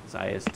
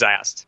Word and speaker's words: Zast: on the new planet zest and stuff like that so it's am I pronouncing that right ER it's zast Z so I'm I'm excited